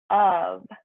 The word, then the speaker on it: of: okay for number four so remember with up it sounds like a V n vu of yeah so it's spelled os4 of but it sounds like UV okay here's our next